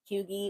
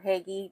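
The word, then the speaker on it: hygge: can get this space feeling huggy or haggy, depending how you say it, feeling open and free and like limitless, then I think you'll be able to.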